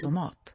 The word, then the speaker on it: tomat: En tomat. En tomat. This is an unusual word, tomat, where we have an upstep to syllable 2.